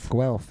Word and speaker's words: Guelph: How do I pronounce the name? Guelph? Guelph.